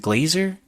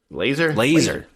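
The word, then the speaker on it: Lazor: So hopefully, coming off the bye week, is it Glazer? I always mispronounce the offensive coordinator's name. Laser. It is Laser.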